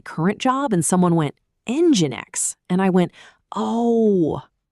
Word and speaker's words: Nginx: Saying Engine X feels really wrong even though it's the official pronunciation. I go with Engine X.